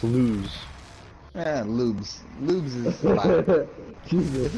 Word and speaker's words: Luz: No, Luz. L-U-Z. Luz. Lube. Yeah, it's pronounced lose.